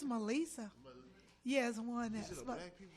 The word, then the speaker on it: Meli'sa: I don't know why black people always say my name is Melissa but it's Melissa yes one that